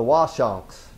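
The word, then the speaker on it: Awashonks: And another one, they tell me in Little Compton, this is how you pronounce it, the Washonks. You don't pronounce the A at the beginning.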